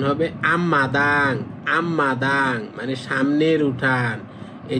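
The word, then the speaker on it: 앞마당: তাহলে এটার উচ্চারণ হবে আম্মাদাং।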